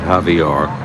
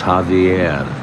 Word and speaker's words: Javier: last name all along it's not javor it's Javier this situ jul Javier